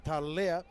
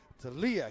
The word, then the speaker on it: Talia: E hara ko te Talea, engari ko te Talia ke, Talia.